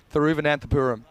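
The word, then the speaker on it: Thiruvananthapuram: but can you have one more go at pronouncing I'll even say it for you through van anthapuram yeah sounds good you now you try sorry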